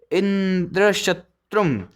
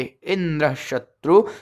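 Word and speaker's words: इन्द्रशत्रु: भेद हो जाता है, अतः षष्ठी तत्पुरुष समास वाले इंद्र शत्रु शब्द का उच्चारण अंत्योदात्त होगा, अर्थात अंतरिम अक्षरत्रु का उच्चारण उदात्त स्वर से होगा, और बहुव्रीहि समास वाले इंद्र शत्रु शब्द का उच्चारण आधोदात्त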